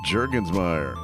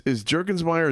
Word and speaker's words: Jurgensmeyer: I think they pronounce it Jurgensmeyer. Yeah, that's right. In Germany, still to this day.